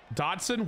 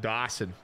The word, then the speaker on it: Dodson: couple yards that's fine Dodson what did I say what did I say I probably said Dawson I need to pronounce my T so you don't get